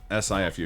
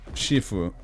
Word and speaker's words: Sifu: Spelled S-I-F-U. Yeah, and they pronounce it Sifu in the game, but I'm pretty sure it's Shifu in terms of actual pronunciation.